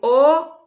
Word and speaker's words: ho: verbo ter e o o eu tenho Observe que o é escrito com h n h o mas o h no início de palavras como no português é mudo né como a tela